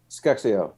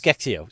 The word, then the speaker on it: SCExAO: So say we bolt that upgraded version of Sphere, or how do you pronounce it? Skexio. Yes. Skexio.